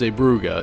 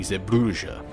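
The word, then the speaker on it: Zeebrugge: at in this expansion is zuga yes it's pronounced zuga instead of my dumbass saying iua anywh who zuga was a Belgian Port that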